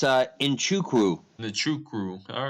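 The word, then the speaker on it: Nzechukwu: I do that yeah and how do you pronounce the name nawacha it's uh inchukwu the true crew all right so this is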